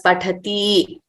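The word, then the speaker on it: पठति: Please note, all these ending letters are hrasvas, that is, they are short letters. So we should not prolong them as pathati, likhati, dhavati, nrityati, hasati. That would be wrong. So we have to pronounce them accurately as short letters.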